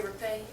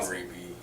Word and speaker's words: Reeby: Now, Jason, are you kin to the Shelley and Jerry Rapay? Am I saying that wrong? How do you say it? Don Reeby is my Reeby, dad.